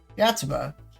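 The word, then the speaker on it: Yotsuba&!: Yatsuba. The ampersand is silent.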